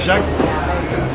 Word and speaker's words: Jacques: correspond je m'appelle Jacques Le son Jacques ne correspond pas à l'écriture du prénom a desas de lettres